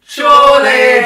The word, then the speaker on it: Chorley: And what rhymes with the Crawley? Chorley! Chorley's next. We don't know where Chorley is.